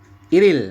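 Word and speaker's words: 일일: ya itu kan berarti iril ya dibacanya adalah iril Il Il dibacanya iril seperti itu yaun tanggal 1 seperti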